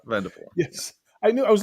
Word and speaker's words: Vandervoort: It's Vandervoort. Vandervoort. Yes. Yes. The T, the R is silent and the T is silent. The first R is silent, and the final T is silent. Vandervoort.